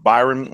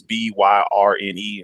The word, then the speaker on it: Byrne: her name is Rose Byron. I'm probably saying her name wrong. It's Byrne.